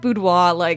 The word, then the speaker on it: boudoir: I call it boudoir. Don't worry about that R.